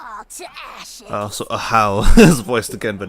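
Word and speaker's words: Ajaw: Oh, Ajah, whatever the fuck his name is. Yeah, it's pronounced Ahau, apparently. I'm just gonna say Ajah, because I don't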